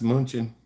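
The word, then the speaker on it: München: Munich is pretty cool. I know Kristoff. Yeah. That's Munchen. In German, that's how they pronounce it.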